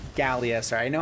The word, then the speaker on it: Gallia: All right, well, we will kill Galia. Gallia, sorry.